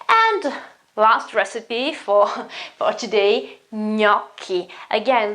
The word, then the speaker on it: gnocchi: And last recipe for today, gnocchi. Again, that's the GN sound, as in lasagna and bolognese. So gnocchi, they're those little notes, the potato notes, okay?